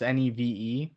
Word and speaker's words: Neve: You got Neve Campbell, the girl from the Threesome and Wild Things. Campbell. Maybe it's Neve. It's Neve.